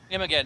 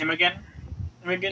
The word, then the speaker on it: Imogen: Imogen, I believe, is how it's pronounced. Imogen Yeah.